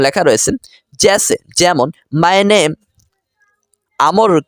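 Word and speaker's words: عمرو: একটা কথা মনে রাখবেন, যদি কোথাও আইন মিম র একসাথে লেখা থাকে এবং তারপরে যদি একটা ওয়াও থাকে, তাহলে তার উচ্চারণ হয় আমর।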